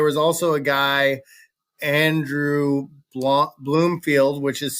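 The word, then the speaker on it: Blomfield: also a guy Andrew Bloomfield which is spelled like Blum b-l-o-m but it's pronounced Bloom um he just became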